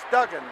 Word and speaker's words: Duggan: do gen Duan and even though he likes it pronounce Dugen he'll accept Dugan when the crowd is